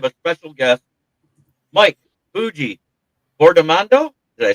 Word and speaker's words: Fiordimondo: Mike Fuji formando. Did I say it right or close? Close. Close enough. You say it for me then. You're right. Famondo.